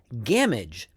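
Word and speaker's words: Gamwich: And his father before him, which would have been Sam's greatgrandfather, is Hob Gamage the roper or old gamagy.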